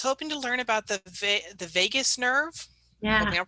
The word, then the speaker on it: vagus: Was hoping to learn about the vagus nerve. Yeah. Hoping I'm pronouncing that right.